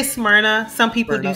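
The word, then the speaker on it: Smyrna: that spelling of that City SM I say smrna some people do say SM yeah but I say I think it's the southern in me smna okay that's I'll note that for the future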